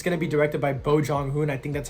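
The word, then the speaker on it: Bong Joon-ho: Mickey 7, it's going to be directed by Bo Jong-hoon. I think that's how you pronounce his name.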